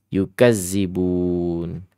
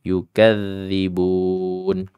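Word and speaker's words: يُكَذِّبُونَ: balilladina kafaru rii yukadzi nah ini yang sering terjadi kesalahan yukazzibun padahal ini adalah yukazzibun yukadzi yukadzi begitu ya kurang lebihnya ya yukadzibun Mad Arid lisukun ingat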